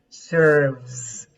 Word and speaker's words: serves: Okay, when you pronounce this, pronounce serves, serves. As you have a Serves. final vibration here between the upper teeth and the lower lip. There is a vibration. This vibration makes the S to be sounded like a serves.